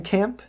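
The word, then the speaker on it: Kemm: other people i cover kevin kemp k-e-m-m not p now but k e m m for south africa i covered a couple of nights ago is different kim i pronounced it around that time kevin kemp is really good uh kevin kim kem from south africa and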